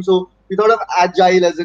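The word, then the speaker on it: Agyle: So we thought of Agile as a name, spelled with a Y, A-G-Y-L-E, a lot of weird stuff, but there was always something that would clash with it.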